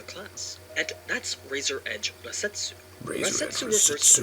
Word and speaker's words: Rasetsu: The Japanese pronounced Rakshasa as Rasetsu, leading to the name Razor Edge Rasetsu.